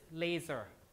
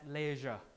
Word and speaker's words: laser: Word like this, laser, right? Laser that you use. Laser, I have some Korean students who I talk to who would pronounce this as leisure, like that.